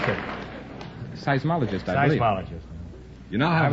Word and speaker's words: seismologist: stupidity earthquakes is right now how do you pronounce it seismologist I seismologist you now have $125 here's your